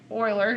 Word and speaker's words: Euler: of cool so it was discovered by Leonard Euler is how you say his name and so